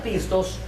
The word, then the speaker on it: pistos: no entenderse bien pero la palabra fiel hermano que se pronuncia pistos significa digno de de confianza mire esto